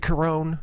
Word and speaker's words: Caron: Is it Caron?